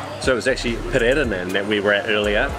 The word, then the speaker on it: Pererenan: Been a bit of a day of mispronunciations. So it was actually Pererenan that we were at earlier.